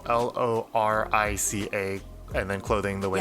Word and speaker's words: lorica: spoke living correct yeah if there are any proper latin people out there i think the credit pronunciation might be larika but i do not know enough and i've said it this way for so long that it's lorica i'm sorry but yeah